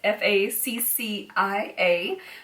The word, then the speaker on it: Faccia: I don't know how to pronounce this. I'm gonna guess Faccia. It's Faccia.